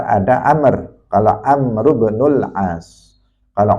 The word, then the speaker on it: Amr: Ada Umar, ada Amr.